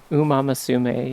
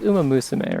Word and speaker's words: Umamusume: So it's like, Umamasume, yeah. It's like Umamusume, right? Is like the technically the correct way to say it, right?